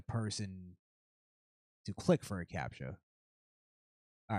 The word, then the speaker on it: CAPTCHA: CAPTCHA?